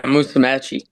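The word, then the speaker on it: Musumeci: Yeah Musamei. Musamei maybe the best in the world at his at his weight.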